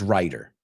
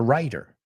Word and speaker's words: writer: Cuando digo write, lo digo como una T, write. Pero cuando lo digo como escritor, lo suavizo una D.